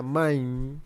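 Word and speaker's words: מים: Digamos, cuando la palabra hebrea para agua se pronuncia maim, también se pronuncia en plural.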